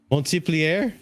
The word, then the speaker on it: Montpellier: Montpellier? No, Montpellier. Just act like the T doesn't exist.